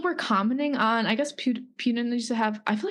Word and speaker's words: Putin: Like, it just doesn't seem like real sometimes, Like, just people were commenting on, I guess Putin used to have, I feel like I'm saying his name wrong.